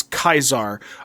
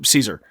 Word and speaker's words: Caesar: pronounce caesar's name as kaisar a post-classical latin pronunciation emphasizing the diphthong d-i-p-h-t-h-o-n-g dipathong diphthong what